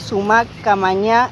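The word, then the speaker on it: suma qamaña: Em, la idea de del buen vivir, les digo de cómo se pronuncia en quechua. Es sumac Kawasay en Quechua y Sumac Camañá en Aimará.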